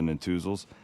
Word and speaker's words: Netusil: stuff for 2026, remember our friends the Natuzels. That is spelled Netusil.